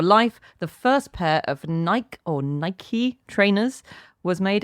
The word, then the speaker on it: Nike: I've Well, I've checked the archive, and then all we've got after that is Dan saying that Nike is pronounced Nike like Mikey.